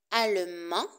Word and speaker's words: allemand: terminaison a n d allemand allemand de attention à la prononciation du masculin on ne prononce pas le D à la terminaison i